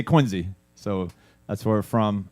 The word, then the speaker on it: Quincy: And yes, it's pronounced Quinzy, even though Q U I N C.